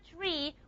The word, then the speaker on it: tree: like in a word tree what do we have to do? We have to aspirate aspirate the tea. You have to aspirate the tea.